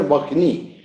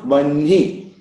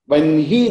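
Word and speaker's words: वह्नि: So, because nasal letter is coming after H, that nasal letter should be pronounced first.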